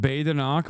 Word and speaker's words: Badenoch: It's pronounced Badenoch, but I don't care.